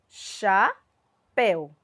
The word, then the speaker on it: chapéu: receber o acento agudo a palavra chapéu e percebam chapéu quem é a minha sílaba mais forte céu porque recebe o acento agudo ali ó na letrinha